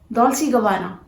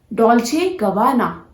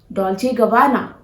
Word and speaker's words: Dolce & Gabbana: Dolce & Gabbana. No, that was the mistake you were doing since so many years. This is not Dolce & Gabbana.